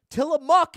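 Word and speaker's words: Tillamook: If you've never tried it, Tamuk is the correct pronunciation.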